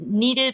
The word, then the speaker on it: kneaded: And then the one that everyone's been asking about is my kneaded eraser, which is spelled K-N-E-A-D-E-D, like you knead bread.